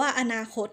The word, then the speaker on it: อนาคต: คำ ว่า อนาคต ค่ะ นัก เรียน จะ เห็น ว่า พยางค์ ที่ 1 นั้น เบา นะ คะ กว่า คำ ว่า นา หรือ ว่า คำ ว่า คด จะ พูด แค่ ครึ่ง เสียง อนาคต นั่น เอง ค่ะ หรือ บริหาร พยางค์